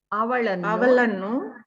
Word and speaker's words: ಅವಳನ್ನು: ಎರಡು ಕೈ ಎತ್ತುತ್ತಾ ಎರಡು ಕೈ ಎತ್ತುತ್ತಾ ಅವಳನ್ನು ಕರೆಯಿರಿ. ಕರೆಯಿರಿ. ಅವಳನ್ನು la you need to pronounce properly.